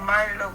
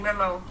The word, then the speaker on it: Melo: That's sorry, King Milo. Well, I don't know why I'm calling you Milo, but yeah, King Melo. King Melo. Yeah. I suppose that's how they pronounce it. Am I right? Yes, King Melo.